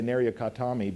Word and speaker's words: Nariokotome: It's called the stripling youth, or the boy from Nariokotome. And people always remember how to say Nariokotome because it's pronounced like frontal lobotomy.